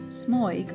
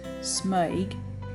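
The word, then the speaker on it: smøyg: pages of historical examples smug or as it should be more correctly pronounced smug is pattern darling Patton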